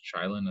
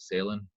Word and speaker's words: Shyland: a call with him you pronounce it shyland as opposed to sailing as he often gets or myself you can